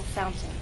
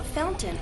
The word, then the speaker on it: fountain: that has two pronunciations the standard pronunciation is fountain with a true t t Fountain the other pronunciation is what you'll hear in fast speech fountain this is more typical of everyday informal English Fountain how am I